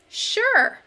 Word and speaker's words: sure: We hear sh at the beginning when we say sure, but it's spelled with only the letter S instead of sh.